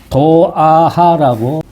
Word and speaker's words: 조아하: 중국 현지 발음에 따른다면 조보다는 도자가 더 맞을 듯 싶습니다.